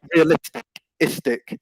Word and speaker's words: realistic: that point as well just the pronunciation um realistic so the stress is on um realistic yeah so it was